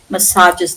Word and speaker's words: massages: Massages. This has regained the French pronunciation.